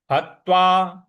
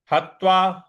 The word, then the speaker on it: हत्वा: अगला पद है हत्वा हत्वा ह के बाद जो त है इस पर हमको थोड़ा सा बल लगाना है हतार्थ कामस्तु कामस्तु म